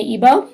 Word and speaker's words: Igbo: The 3 major ones are the Hausa Fulani, the Yoruba, and the Igbo, is how you say that.